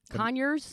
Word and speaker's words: Conyers: rhymes with chlamydia no rhymes with on yours what Conyers Conyers Georgia yeah okay